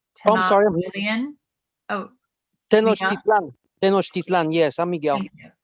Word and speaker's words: Tenochtitlan: Did Juan Rodriguez Cabrillo go to, and I'm not going to pronounce this correctly, Oh, I'm sorry. Oh, Tenochtitlan. Tenochtitlan, yes, I'm Miguel.